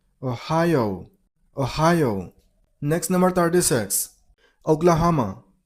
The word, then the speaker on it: Ohio: Ohio. Stress on the middle syllable. I mean on high sound. Ohio.